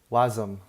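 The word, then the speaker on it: WASM: Hold up, let me search up how to say how do you say W? Oh, awesome. Wom. Okay. Wom. Wom. Web assembly. So, instead of web assembly, I'm going to say Wom.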